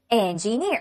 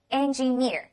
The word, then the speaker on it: engineer: 这个叫 engineering，很多人比较喜欢读 engineer 啊，这样就不对了哈。engineer near 是重音。OK，好的，